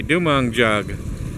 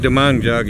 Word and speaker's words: Dumanjug: dong jug I think dong jug is how they pronounce it well I'm going to